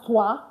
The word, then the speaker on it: trois: It's pronounced as toi because OI in French gives the wa sound.